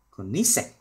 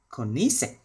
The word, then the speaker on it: Koenigsegg: Rồi bây giờ mình sẽ phát âm chuẩn của nó là Koenigsegg, Koenigsegg.